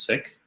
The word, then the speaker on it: Sikh: original punjabi uh is sick and and as many it's it's a word that we hear in in many south asian languages it derives from sanskrit uh but the pronunciation in punjabi is sick and that that hasn't